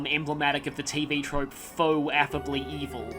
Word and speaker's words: faux: of the TV trope faux affably evil. That's F-A-U-X, which I used to actually pronounce as forks, but no, because I'm terrible at French.